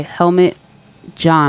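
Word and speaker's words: Helmut Jahn: Thompson Center in Chicago, designed by Helmet John. And I hope I'm pronouncing that correctly.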